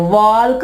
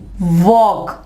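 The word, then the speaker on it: walk: यहां पे एल जो है वो नहीं पढ़ा जाएगा, वॉल्क नहीं कहेंगे हम इसको, यहां पे क्या कहेंगे, वॉक।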